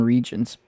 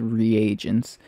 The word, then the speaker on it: reagents: now we have uh or i always call them regents he pronounced them as reagents and now we have